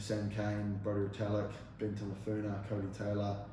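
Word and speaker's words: Tameifuna: Tamafuna.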